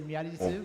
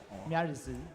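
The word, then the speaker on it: Miary Zo: In Japanese, they say Miyarizu, but in English, it's like Miyarizu.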